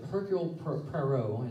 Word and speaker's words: Hercule Poirot: And Hercule Poirot, I think is how you say his name, he is the main detective.